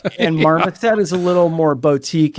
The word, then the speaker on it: Marmoset: It's Marmoset, Marmoset. Like Marmot, but Marmoset.